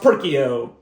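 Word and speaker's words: Perkeo: It's not and it's pronounced perkio.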